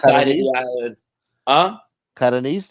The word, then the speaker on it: Catanese: Catanese, that's how you say it? Catanese, yep. Catanese. If you're from Catania, you're Catanese. My grandmother was from Bari, so she's Barres.